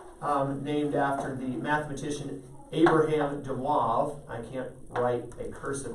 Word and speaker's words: de Moivre: to your note named after the mathematician abraham dewove i can't write a cursive article in my life de mois theorem it's spelled de moivre's but d e m d-e-m-o-i-v-r-e-s